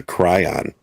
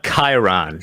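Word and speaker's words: chyron: Like, what the hell's a Cryon? Yeah, I know. My kids use crayons to color. I say it wrong. Jack will come in here. Yeah. It's called a Chiron, you uncultured brutes.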